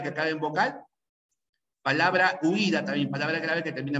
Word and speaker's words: huida: Se pronuncia así, huida. Es una palabra grave que termina en vocal.